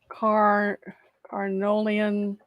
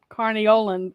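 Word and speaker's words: Carniolan: never say it correctly let me Google it car arnolian c-a-r-n-i-o-l-a-n carniolin honeybee huh okay uh native to Slovenia Southern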